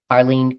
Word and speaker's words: Arlene: And is your name pronounced Arlene? Arlene Cohen Miller.